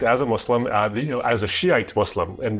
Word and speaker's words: Shia: So I was raised as a Muslim as a Shiite Muslim. And the proper way to say that is Shia.